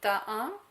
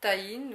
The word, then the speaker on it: tahini: De la purée de sésame, que l'on appelle aussi donc tahin ou tahine ou tahini, selon la manière de prononcer.